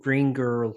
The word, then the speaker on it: Green Gurl: I guess the first thing I was going to ask quite simply is, how did kind of Green Girl start? And do you pronounce it like that?